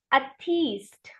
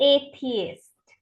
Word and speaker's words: atheist: तो उनको लोग इस वर्ड को मिसप्रोनाउंस किया जाता है एज अथीस्ट। ये अथीस्ट नहीं है, इट्स एथियस्ट।